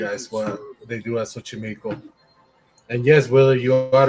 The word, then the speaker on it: Xochimilco: Yeah, Xochimilco. How you say it again? Xochimilco. Xochimilco.